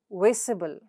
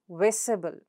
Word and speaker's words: visible: The third example is ible. Examples are visible, terrible. Again, both are 3-syllabled words, right? So ible, and there you go, ible. So now where does the stress come? The syllable right before the suffix. So that is vis and ter. So it's visible, visible, and terrible, terrible.